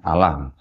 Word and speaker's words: Allah: Saya nyebutnya Allah ya karena mereka tulisannya di sini nggak pakai tasdid Pak, jadi saya bacanya Allah. Kalau pakai tasdid baru Allah gitu Pak ya.